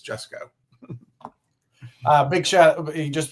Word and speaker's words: Jusko: So now I can always remember it's Jessco.